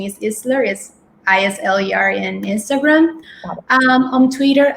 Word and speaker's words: Isler: is at eisler even though if the pronunciation is islaris isleyr and instagram um on twitter um molly underscore